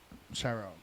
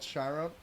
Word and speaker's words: Chiron: Chiron. Oh, it's spelled like that. Okay, so there is a chapter called Chiron. I thought it was Chiron, which is a Greek mythology thing.